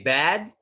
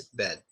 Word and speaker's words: bed: Do we say bad? Bad? Some people say bad. It's a nice bed, Firko. Nice bed. No, it's bed.